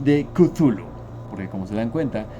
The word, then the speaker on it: Cthulhu: hecho de ser humanos no tenemos la posición fonética necesaria para pronunciar esta palabra kuzulu Según yo es la forma más cercana a lo que se asemeja del sonido que hacían las especies que lo veneran especies que son más